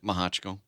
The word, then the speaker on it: Mehochko: it that way and I don't care I pronounce it maja Chico just so you saying alright well you made